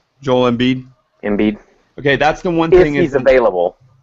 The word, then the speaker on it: Embiid: Embiid.